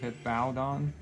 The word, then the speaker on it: Hippowdon: It's Hip-Ow, like O-W, Dawn, right? Hippowdon?